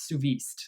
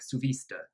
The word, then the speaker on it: Suviste: to pronounce that but I don't believe it's sooo visa because I did see it pronounced on live broadcast as more like sue Vista so I think that's how you pronounce his last name but anyway cuckoo he's